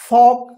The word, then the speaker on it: folk: तो यहां पे भी क्या है, देखिए एफ से पहले एल आया है तो एल साइलेंट, के से पहले एल है तो क्या होगा, एल साइलेंट।